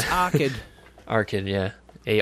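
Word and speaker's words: Arkyd: I've definitely seen the name because I always think I look at it and I think it says Aykroyd, you know, like the Dan Aykroyd. Yeah, but it's Arkid.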